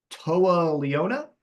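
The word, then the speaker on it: Toa Liona: We get Toa Leona. Is that how you say it? Nailed it. I think you nailed it.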